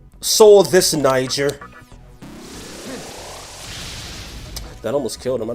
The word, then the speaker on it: Niger: N I g E R. Check your map. And no, that's actually how it's pronounced.